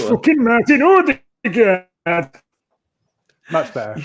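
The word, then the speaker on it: Ødegaard: Odegaard.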